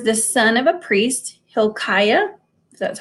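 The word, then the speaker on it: Hilkiah: prophet he was the son of a priest Hill Chaya that's how you say it um he remained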